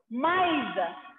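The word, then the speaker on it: maïs: So, when laxon trema will come, you have to pronounce those two vowel letters separately.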